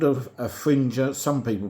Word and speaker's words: Fringer: It's called a Fringer. Some people pronounce it Fringer, but like passenger and messenger and everything else, everything that ends in GER is Ger to me.